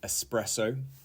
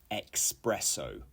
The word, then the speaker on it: espresso: okay number 12 is espresso and not espresso okay and the definition